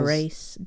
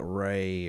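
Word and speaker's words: Rais: Gilles de Probably Gilles de Race. No, it ain't Race. Ross. I found somewhere it said it's pronounced like Ray or something like that.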